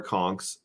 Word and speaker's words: conch: so there's a saltwater conks and then yeah a c-o-n-k like the the shell I believe is that it or is it okay it's spelled conch but if you're a